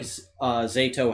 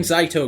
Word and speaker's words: Zato: Whereas I feel like Zato has I'm so used to saying Zaito because that's how we were all pronouncing it until this episode aired. But Zato, I don't know. I'm probably gonna say it interchangeably. Solon said Zato, so I'm trusting that that's the official pronunciation.